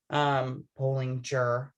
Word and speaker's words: Bollinger: Bollinger. Okay. I have a hard time remembering that her G it's a hard G, right? Not a soft G.